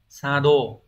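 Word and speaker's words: 作動: mà có thể là nhiều bạn cũng sẽ bị sai đọc là Sado từ Sado này có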